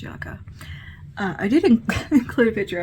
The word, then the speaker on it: Yucca: Apparently it's pronounced Yucca.